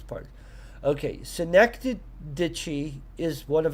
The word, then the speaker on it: synecdoche: Yeah, pronunciation. That's what we need on this. Synecdoche. Synecdoche. Synecdoche.